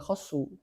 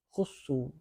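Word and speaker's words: خُصُّوا: naibul fail Nah itulah Kenapa Anda enggak baca khasu kalau khasu berarti mereka yang mengkhususkan padahal dalam ayat ini mereka dikhususkan penyebutannya oleh Allah Taala sehingga Bacanya jangan khasu tapi khusu ya kan majhul yabul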